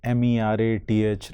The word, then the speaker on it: Meerut: According to the pronunciation, Yes, the sir. spelling of Meerut Yes, sir. should be MERATH, like something like that. Yes. But it is MEERUT.